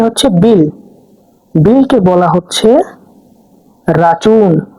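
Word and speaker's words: račun: বিলকে বলা হচ্ছে রাচুন। রাচুন।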